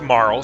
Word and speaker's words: Marle: But I always thought that Princess Nadia's assumed name was Marley, not Marl. So hearing it pronounced Marl here actually kind of threw me for a loop the first time, where I was like, is that how you pronounce that? I thought it was Marley. But what do I know?